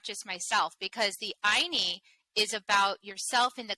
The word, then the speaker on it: Ayni: It's Ayni, and it's pronounced Ayni, and it's a Quechua word from the Karo people.